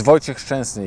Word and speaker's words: Wojciech Szczęsny: Well, it's Wojciech Szczęsny if you say it properly.